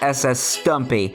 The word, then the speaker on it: SS Stampy: Well, I was almost about to say A, SS Stumpy, but how he pronounces it is SS Stumpy.